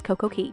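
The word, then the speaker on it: Coco Cay: day at CoCo see I want to say k cuz it Rhymes but it's CoCo Key the perfect day at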